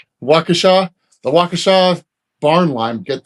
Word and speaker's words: Waukesha: Yeah, if you got Tractor Supply in your area and they have that, how do you even pronounce that? Wakashina? Waukesha.